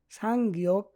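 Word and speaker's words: 쌍기역: এগুলায় Korean উচ্চারণ হয় সাং গিয়ক, সাং দিগুত, সাং বিউপ, সাং সিউত, সাং জিউত।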